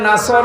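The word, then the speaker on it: نصر: হয়েছে এখানে সোয়াদ আছে নাসর মানে সাহায্য আর নুন সিন র নাসর মানে এগল পাখি আপনি যদি মুখটা গোল করে শুদ্ধ করে উচ্চারণ না করেন অর্থ আকাশ পাতাল পাল্টিয়ে যাবে আল্লাহ পাক বলেন নবী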